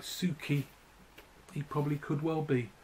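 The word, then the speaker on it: Suchy: That's pronounced Suki, apparently.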